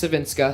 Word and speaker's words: Savinska: I asked their coach, and it's Savinska. So Savinska, okay, good. just making sure I got the pronunciations right.